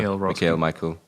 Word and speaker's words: Michaël Roskam: Michael Roskam. Actually, that was a lot easier than I thought. Isn't it Michaël? Whatever. Michaël Roskam. Michaël, probably, because it's got the 2 dots above the E there.